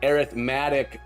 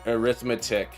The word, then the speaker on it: arithmetic: arithmetic the arithmetic um different pronunciations for noun and adjective that must be why my brain is having trouble um because if I refer to refer to it as an arithmetic operator rather than arithmetic